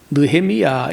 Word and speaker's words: 느헤미야: 좀 쉽게 이렇게 해요 그래서 나함 야 하려면 힘들잖아요 그래서 이게 그 느헤미야 이렇게에 부드럽게 발음이 된다는 거야 나함 야외 여호와는 위로하신다